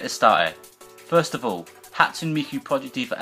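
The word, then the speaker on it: 初: so hatsu Miku also referred to as Miku hatsun as a humanoid Persona voiced by a singing synthesizer what hatsun miku's name comes from the Japanese word for first which is pronounced as hatsu in Japanese the any on the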